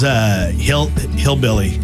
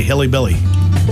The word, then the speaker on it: hillbilly: So Mine was hillbilly. I used to say hilly billy, and so just a little extra there.